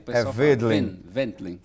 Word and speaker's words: Wendling: No caso aí, em alemão, o W se pronuncia como um V. Ah, Aí o pessoal fala Weidling. Wendling. Wendling.